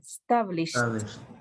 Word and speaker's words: established: When you pronounce when you pronounce this verb, try to do it like a little T at the end, established.